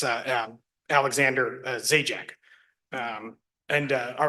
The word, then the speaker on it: Zajac: your name and let us know how to pronounce it whenever you're ready. Thank you, your honor. It's uh um Alexander Zjek.